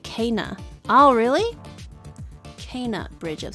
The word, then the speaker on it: Kena: In the game, they pronounce it Kana.